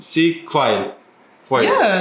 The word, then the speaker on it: Quail: Yeah, Quail. pretty good. Quail. With like an accent. Quail. Yeah, exactly. Si Quail. Australian accent. Yeah. Because Americans make it 2 syllables and get quail, but it's just.